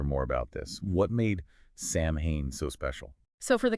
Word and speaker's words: Samhain: Samhain. You got it. Yeah, Samhain, it was a big deal for the ancient Celts, and it was celebrated right around October 31st.